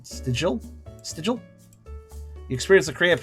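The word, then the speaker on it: De Stijl: Pronounced de Stil. De Stil. Okay. It's literally the style. Okay, that makes sense now that I say it out loud. Stil. I can see how that could be style.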